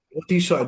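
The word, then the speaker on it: অতিশয়: and we pronounce it as Otishoy. Otishoy.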